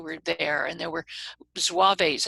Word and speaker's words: Zouaves: So there were Hessian troops who were there, and there were Zouaves, I think that's how it's pronounced, Zouaves, Z-O-U-A-V-E, all in costume, and they all assembled where the Navy Yard was and where Pier 53 is now.